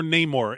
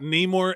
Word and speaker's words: Namor: we got like Namor which is how he pronounced it in the movie and there's no more Namor in my life it is not Neymar anymore it's Namor and that that whole